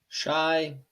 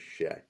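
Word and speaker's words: Shai: Aye, It's aye, Shay, aye. not Shy. Thunder fans have known this for years. It is Shay.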